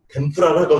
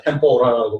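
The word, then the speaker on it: tempura: 개발돼가지고 바삭바삭하게 하는 것이 일본 말로 템프라라고 돼가지고 왔는데 미국 사람들, 유럽 사람들이 템프라 발음 못하니까 템포라라고 발음을 하는 거예요.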